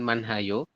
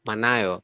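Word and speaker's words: 많아요: ini hinya tidak ada Jadi dibacanya Bukan manhayo tapi manayo seperti itu hiatnya diabaikan lanjut Mas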